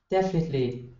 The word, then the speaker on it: definitely: go say it again definitely defin definitely definitely definitely yeah there you go okay and it's going to be first syllable stress and that's one thing